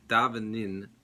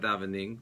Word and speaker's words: davenin: He says, davenin, it's not davening, which is a lot the way it's pronounced usually.